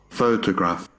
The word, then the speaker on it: photograph: in reality, you will hear either this photo, or photog, this. So it will be photograph, photograph, and photographer, photographer.